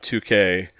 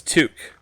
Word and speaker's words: toque: No, it's toque. It's a toque. Oh, toque. Queen Bee was like, no, pronounce toque. Toque, not toque.